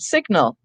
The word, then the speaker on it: signal: this is interesting because we have the noon sound in the word sign fine but related to it is the word signal and there we pronounce the g signal or a signet ring